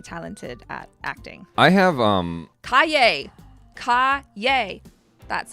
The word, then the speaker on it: Calle: I have Calle.